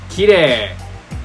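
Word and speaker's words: きれい: So for e, if there's ever a long e sound written in hiragana, you normally add an extra i after the e sound. So for example, we have a word called kirei. Kirei is pretty, but you spell it as kirei. Kirei. Kirei. That's how you actually write it, but when you're talking, you say kirei.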